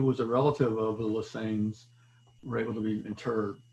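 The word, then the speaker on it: Lesesne: I pronounce it Lesane.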